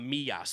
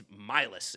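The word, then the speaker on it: Millas: Crazy his name's not Meas, by the way, or Milas. It's Mylis. It's got to be the most American way to pronounce that last name.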